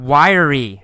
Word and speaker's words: wiry: Next paragraph, we see the word wiry. It's spelled W-I-R-Y. But in fact, we say it with 3 syllables. Y-er-ry. Wiry. Wiry.